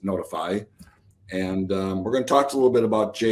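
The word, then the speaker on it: Notefy: gentleman named Jake Gordon with a company called notify spelled n-o-t-e-f-y but spelled but pronounced notify and we're going to talk a little bit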